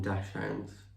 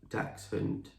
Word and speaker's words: dachshund: well we call them we call them dash hands we've always called her a dash hand but i think the proper pronunciation should be like dachshund because it comes from germany yeah which basically translates